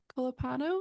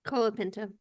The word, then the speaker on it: Colapinto: And then I actually saw a few that were like, actually, Colapano? Is that how you say it? Colapinto.